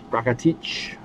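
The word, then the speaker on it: Rakitić: Rakitic.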